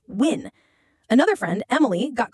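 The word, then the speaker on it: Nguyen: My friend Michael, whose last name was Newen, was called Mr. Newen every day, despite telling her it's pronounced win.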